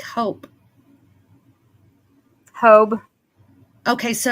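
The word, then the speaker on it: Hobé: but it was said Hobie, wasn't it? Like hope. Hobe. Okay. So, it's like Hob like hope without the P and a B instead.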